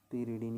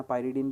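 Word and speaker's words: pyridine: तो ये हो जाएगा आपके पिरिडिन, पिरिडिन या पायरिडिन भी बोलते हैं इंग्लिश में अगर इसको प्रोनाउंस करेंगे अपन।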